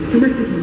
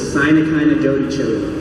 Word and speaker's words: synecdoche: Synecdoche, yeah. The word is synecdoche, and we were watching this YouTube video where the pronunciation was Sinakina Dodi Chili.